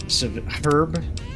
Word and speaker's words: herb: been activated herb herb they don't pronounce the h herb it see it seems to vary from person to person I've heard herb and Herb students this